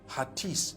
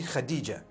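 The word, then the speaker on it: Hatice: In Turkish, some people spell it H-A-T-I-C-E. I would say Hatis for that. No, it's actually Khadija.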